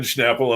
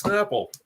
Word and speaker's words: Snapple: says hey you know you're saying it wrong there's no h in this and i'm like well look at that you're right it's snapple who knew and that was my